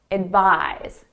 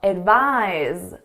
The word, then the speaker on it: advise: So you can think of it more as a Z sound.